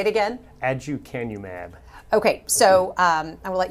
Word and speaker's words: aducanumab: I'm going to have you pronounce it, first of all. Aducanumab or Aduhelm. Okay, yeah. Say it again. Aducanumab.